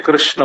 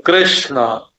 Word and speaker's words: कृष्ण: अब देखो आप बोलते हैं कृष्ण। तो क के उच्चारण में आपके कंठ में एक स्पंदन होगा। क का क और ऋ के उच्चारण में आपके सिर में एक स्पंदन होगा माने कृष्ण बोलते समय आप नीचे से ऊपर गए और वहां शणा जो है मूर्धन्य श और ण दोनों मूर्धन्य है तो ऋ ने तो